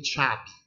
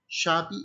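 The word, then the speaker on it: شعبي: And in Arabic, we say Shabi. Shabi, it's not Shab. You find in pronunciation in Arabic, Shab, it means all people. But Shabi, it's a particular people, even in Arabic.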